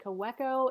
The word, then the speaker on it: Kaweco: This is the Kaweco Sport. I've also heard it say Kaweco. It's, again, a German pen it has different pronunciations there.